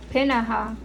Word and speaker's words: Peninnah: And he had 2 wives, and the name of the one was Hannah, and the name of the other was Peninnah.